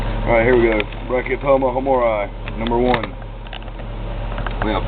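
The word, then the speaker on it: Brachypelma hamorii: Brachypelma homori. Homori is the proper pronunciation.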